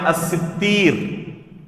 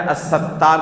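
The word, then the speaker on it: السِّتِّير: ایک نام ہے الستیر، جسے بہت سارے لوگ کیا کہتے ہیں، الستار کہتے ہیں۔ ابھی کہا نا کہ صحیح نطق، صحیح تلفظ سے اپنی زبان سے ادا کرنا، تو صحیح نام کیا ہے، الستیر ہے یا الستیر ہے، سین تا اس کے بعد یا ہے، الف نہیں ہے، ٹھیک ہے۔ الستار اللہ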